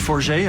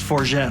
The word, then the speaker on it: Forget: My name is Forget. I'm from Toronto, Canada. It could be pronounced Forget also, but I prefer the more pretentious version.